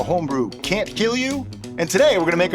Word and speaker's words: kilju: Now, if you're wondering what Kill You is, that's the correct pronunciation. A lot of people might say Kilju. Okay, it's K-I-L-J-U, as you can see right here, but it's actually pronounced Kill You, which is kind of